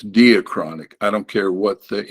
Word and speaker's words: diachronic: There's one that's, and they say diachronic, but it's not diachronic. It's Greek. It's diachronic.